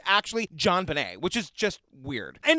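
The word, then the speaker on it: JonBenét: want to also say her name is actually John Benet and I looked it up it's a portmanto of her dad's first name and last name so it's John Benet yeah that's in my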